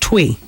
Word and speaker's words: Tui: It's pronounced Twee.